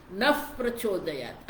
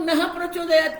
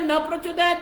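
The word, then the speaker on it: नः प्रचोदयात्: वो जो विसर्ग है उसका उच्चारण जब फ होना चाहिए। नफ प्रचोदयात्, आप देखिए कई लोग नह प्रचोदयात् कहते हैं आप, लेकिन कई लोग जल्दी बोलने में न प्रचोदयात् भी कहते हैं, वो विसर्ग उठ जाता है।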